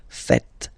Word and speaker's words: faites: So remember, final S here is not pronounced, and then this is not pronounced either. So faites, faites.